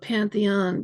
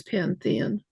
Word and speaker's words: Panthean: People always want to spell it Pantheon, but it's not. It's Pantheon.